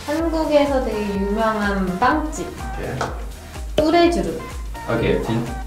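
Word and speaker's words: Tous les Jours: 뚜레주르.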